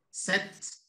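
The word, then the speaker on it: sept: 7. No se dice la P, se dice la T.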